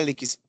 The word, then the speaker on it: Elix: Meu nome é Elix. Elix mesmo, tá bom.